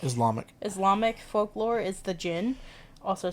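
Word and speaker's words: djinn: Islamic folklore is the Gin also spelled as DG or excuse me d-j-i-n-n I think it's still pronounced Jin yeah it's still gin yeah or Genie um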